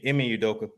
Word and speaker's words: Ime Udoka: Now, Udoka, how you pronounce his name again? Ime Udoka.